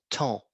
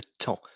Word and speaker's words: temps: un travail j le temps le temps time je n'ai pas le temps on ne prononce pas le S et on ne prononce pas le P non le temps le